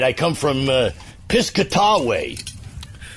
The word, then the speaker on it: Piscataway: I come from Piscataway. Piscataway. Is that how they say it now? That's how we used to say it, Piscataway.